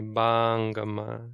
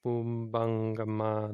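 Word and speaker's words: pubbaṅgamā: You can't say bangama. It's not the long A. Even though it's a long syllable. You don't lengthen the vowel. You just take a pause after it. Mano Pubbangama Dhamma.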